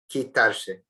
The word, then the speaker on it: quitarse: Again, notice the pronunciation. Qui, not qui. Quitarse.